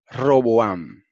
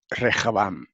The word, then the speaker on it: Rehabam: Ok, Rehabam es el personaje que en la versión Reina Valera se pone como, en base al griego, como Roboam. Roboam. En hebreo se dice Rehabam.